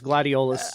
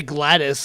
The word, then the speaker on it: Gladiolus: Have I been pronouncing Gladius's name wrong this entire time? Because every time I see it now, it's Gladiolus. Gladiolus. Yeah, I've been pronouncing it correct this whole time, too. It's Gladiolus. I just say Gladys, like, as if I'm fucking playing Portal. So.